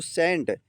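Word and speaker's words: scent: अब शी लाइ साइलेंट कहां होता है बेटा? प्यारे बच्चों देख लीजिए। यहां पर हम इसको सेंट।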